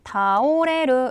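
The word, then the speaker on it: 倒れる: 이 단어는 어떻게 발음 했나 요 ? " 타오레루 " 라고 읽은 거 죠 ?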